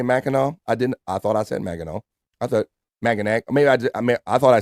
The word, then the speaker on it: Mackinac: We got Mackinac. Corrected. Cyke Labs content emojis right there, but on Esther, that's how it's pronounced, Bobby. Did I not say Mackinac?